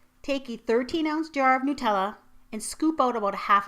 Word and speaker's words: Nutella: The reason I say Nutella is that on the Nutella website, there's a frequently asked question section, and right in there it says it's pronounced Nutella, not Nutella.